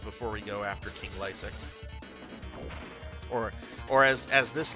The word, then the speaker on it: Lassic: um uh I think I think in this game LC's name is pronounced Lasik run is on the